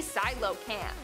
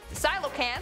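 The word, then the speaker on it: Coelacanth: our number one spot today we have The Silo Camp Silo Camp which is spelled nothing like it's pronounced I thought it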